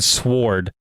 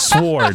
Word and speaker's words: sword: I watched a video that some guy kept saying sword. I have this Japanese sword. I was like, no, it's sword. That's way worse. I get it that it's spelled like with a W.